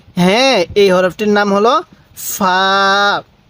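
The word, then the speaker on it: ف: এই হরফটির নাম হলো ফা ফা ফা মুখ দিয়ে হালকা বাতাস বের হবে এরপরে এই হরফটির নাম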